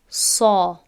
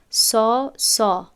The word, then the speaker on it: ص: این را ما باید تلفظ کنیم صا. خوب شاید شاگردی که قبلا تجوید نآموخته باشد شاید بگوید سا.